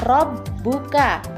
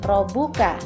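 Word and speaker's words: رَبُّكَ: atau syaddah ini maka harus dibaca double. Contohnya pada kata berikut. Nah, pada huruf ba itu terdapat tanda syaddah atau tasydid. Maka huruf ba-nya dibaca double ya. Penulisannya Latinnya juga B-nya ditulis 2 kali. Bacanya robbuka, bukan robuka.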